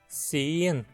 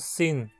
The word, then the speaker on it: sihn: to confuse it with sin, which means "to be". Notice how the pronounciation is different. Sihn, to see, has a long i. While sin, to be, has a short i.